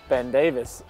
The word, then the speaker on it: Ben Davies: How does Ben Davis pronounce his name? Ben Davis.